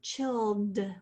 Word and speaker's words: chilled: I, and then l, that double L, and then chilled. We only hear the d sound, but we're going to put in ed.